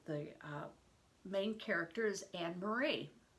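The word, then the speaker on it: Annemarie: main character is anne-marie well i'm going to probably be pronouncing it anna marie or anna maria because that's how it would be pronounced in um german and probably how it would be pronounced in danish so we know that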